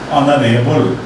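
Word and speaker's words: honourable: ऑनरेबल मैन, तो ये भी एच में, एच साइलेंट हो जाता है, इसमें एच का उच्चारण नहीं होता है।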